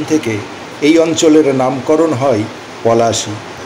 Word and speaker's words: পলাশী: তাই তখন থেকে এই অঞ্চলের নামকরণ হয় পলাশী। কিন্তু ইংরেজরা পলাশী উচ্চারণ করতে গিয়ে উচ্চারণ করত প্লাসি।